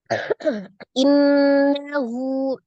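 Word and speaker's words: إِنَّهُ: Innahu, ini ada nun tasdid ya, gunnah musaddada ya, akmal matakun, nun tasdid wajibul gunnah, gunnahnya paling sempurna, akmal matakun ya, nun musaddada. Jadi dibacanya ditekan dan ditahan, suaranya dimasukkan ke dalam rongga hidung.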